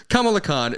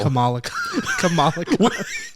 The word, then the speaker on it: Kamala: Like Kamala Harris. They're different pronunciations.